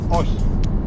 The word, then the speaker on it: όχι: No is όχι.